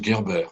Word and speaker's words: Gerber: j'ai interviewé à dieu on se fait dire gerber ça se prononce guerber en bref qui le